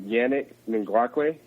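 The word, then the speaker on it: Yannick Ngakoue: Yeah, I like watching Yannick Ngakwe. Is that how you pronounce his name right? Absolutely, yeah.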